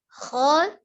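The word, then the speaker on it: خَ: Kho diucapkan dari tenggorokan bagian atas dengan itmamul harokahnya, pengucapan fathahnya tetap terbuka, rongga mulutnya. Jadi kho tidak dengan monyong kho, ya. Dibaca dengan kho, tidak dengan kho. Ya, jadi kho.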